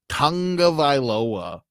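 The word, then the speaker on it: Tagovailoa: back we're gonna hear from Dolphins quarterback Tua Tonga vioa as he describes that's how that's how you pronounce it for sure uh as he describes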